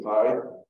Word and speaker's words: P: There actually is no letter that makes a long I sound in Greek. So it wouldn't have been pronounced that way. We pronounce it that way because that's how we read it in English, but it'd be P, like the letter P.